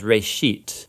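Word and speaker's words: בראשית: of it's called genesis genesis comes from a hebrew word uh it's pronounced ray sheet uh and it just means beginning now there's a lot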